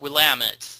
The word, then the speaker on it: Willamette: But no, at the end of the game, you go to Willamette, Willamette County, and it's pronounced Willamette.